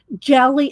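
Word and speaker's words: GLY: and the hashtag is jelly it's well it's pronounced it's because of July that he's doing it g ly for jelly plated G ly postcard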